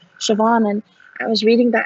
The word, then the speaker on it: Siobhan: british english it's spelled as s-i-o-b-h-n but it's pronounced siobhan and i was reading that as a teenager and saying siobhan because i had no way of knowing how